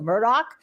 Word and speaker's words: Murdaugh: in the case of Alec Murdock and by the way that's how he pronounced his name when he was on the stand this morning who is